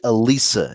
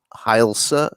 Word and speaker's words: Hailsa: Is that Yeah, supposed to be Elisa, isn't it? But it's actually Hailsa.